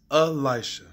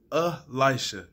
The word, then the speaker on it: Elisha: My name is Elisha. It's pronounced Elisha. Elisha. E-L-I-S-H-A.